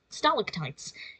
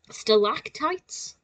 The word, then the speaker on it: stalactites: is in the UK in the UK we say stalactites it's now I'm probably it's going to sound really weird coming out of my mouth but it's still lactites in America and I wondered if